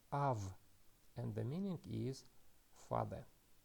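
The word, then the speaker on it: אב: The first letter is Aleph, but Aleph is a silent letter. It doesn't have any sound. That is why we do not pronounce it, and we go to the vowel, and the vowel is kametz, and it is pronounced as A. And the final consonant is bet, but it doesn't have dagesh, so that is why it is pronounced soft as V. So we can read this word as Av, and the meaning is father.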